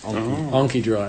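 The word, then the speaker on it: Anki Drive: It's actually how it's pronounced. AnkiDrive.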